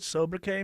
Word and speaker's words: sobriquet: Tim Andrews, you know what sobriquet means?